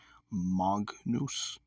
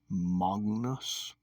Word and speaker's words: magnus: So, for example, you would not say in Latin magnus, even though it's spelled like that. You'd say magnus.